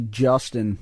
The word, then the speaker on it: Juston: My name is actually Justin, but it's spelled Juston, and that's why he actually calls me Ton.